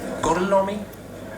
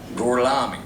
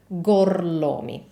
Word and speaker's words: Gorlomi: Brad Pitt's last name is Gorlomi, which in Italian is spelled like this. Gorlomi, Gorlomi.